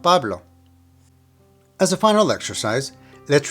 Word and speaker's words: Pablo: Pablo needs to have the emphasis on the very first syllable. Pablo. Pablo. So now let's repeat this part of our sentence.